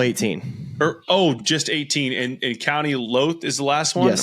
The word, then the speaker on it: Louth: Load, I think, is how they pronounce it. County Load. Okay. But County Louth, they kind of go by whatever you call it.